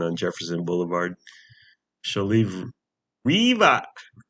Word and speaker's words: Riva: Why would you pronounce it Riva? That sounds Riva. That sounds so dumb. It's named after a river. Because Riva on the river. The river is right next door. Is close by. So just pronounce it Riva.